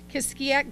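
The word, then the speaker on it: Kiskiack: in regionals held I'm how do you say that kiss kisak just like it's it's written kisak Golf Club located in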